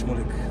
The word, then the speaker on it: Shmulik: My name is Shmulik. Could you spell it for me, please?